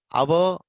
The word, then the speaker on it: hour: Hour. H is silent.